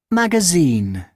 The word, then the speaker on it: magazine: Magazine. Okay, so it's magazine. Which one do you think is the correct option? Sing. Sin, correct. Magazine, right? In the last part, we have the stress.